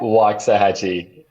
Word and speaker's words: Waxahachie: Waxahachie.